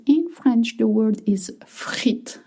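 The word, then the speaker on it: frites: In French, the word is frit, not frit. In French, you don't hear the plural. You've noticed uh it's going to be frit with s at the end. You don't pronounce the S.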